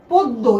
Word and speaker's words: পদ্য: পদ্য কি দেখতে পাচ্ছি দ এর সাথে জফলা আমরা কি করব দ কোথায় আছে এইযে দ দেখ এটা কিন্তু অল বর্ণ যেহেতু অল্প প্রাণ হুবহু তাকে দুইবার ব্যবহার করা যাবে তাহলে হয়ে যাবে শব্দটা পদ্য এইযে দেখ হয়ে গেল